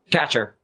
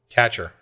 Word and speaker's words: Kacher: bases so um hey chris what's the proper pronunciation of your last name catcher catcher okay we were debating okay well guys um